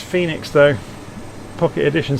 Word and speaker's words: Fenix: to be honest it's phoenix though pocket edition says it's spelt fenix yes i know it is but it's pronounced phoenix i listened to one